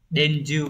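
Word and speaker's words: 伝授: Cái từ này nó sẽ đọc là denju các bạn nhé.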